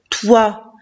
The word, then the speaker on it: toi: Et au milieu, il y a wa, o-i qui fait wa, te, wa, toi.